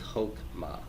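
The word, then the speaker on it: חכמה: That means that the shiva is silent, right? So this is chokmah, chokmah, chokmah.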